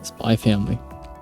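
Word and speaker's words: Spy × Family: Yeah, you don't pronounce the X. I'm more of a fan of pronouncing the X in this case. Like with Hunter x Hunter, I don't pronounce it as well, obviously. Yeah. Yeah, also, I think it sounds better with Spy X Family.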